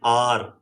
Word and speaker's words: hour: Example, an hour. An hour ago. So H here is silent.